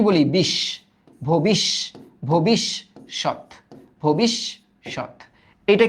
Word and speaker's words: ভবিষ্যৎ: ব্যাখ্যা, এই যে ব্যাখ্যা, এটা দেখো তো ভবিষ্যৎ, এটা তো আরো ইজি। দেখো ফার্স্টে ভো, তারপর কি বলি? বিশ, ভবিষ, ভবিষ্যৎ, ভবিষ্যৎ।